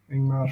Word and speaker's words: Ingmar: Ingmar Bergman. See, I said it right. Yeah. Not Ingrid Bergman, like it says on Cheers.